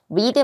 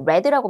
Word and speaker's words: read: 라고 해석하면 되고 read 말고 read가 PP 형태로 쓸 때는 read라고 발음되면 됩니다.